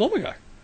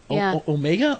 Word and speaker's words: Omega: Well, it's charged by the power of the Hand of Omegar. Omega or Omegar? Omega. I think is how they say it.